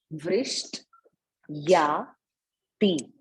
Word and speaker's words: वृष्ट्याति: कृपा दृष्टि, कृपा दृष्टि वृष्ट्याति, वृष्ट्याति, देखिए कैसे बोल रही हूँ, वृष्ट, वृष्ट या ती, कृपा दृष्टि वृष्ट्याति दीनम